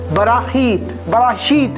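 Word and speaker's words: בראשית: मेरे भाइयों और मेरे बहनों, फिर मैं आपको बताना चाहूँ, इसका सही प्रोनाउंसिएशन है बराशीत है जो बोला जाता है, लेकिन बराहीत एस जो है इसमें साइलेंट है, बराहीत है।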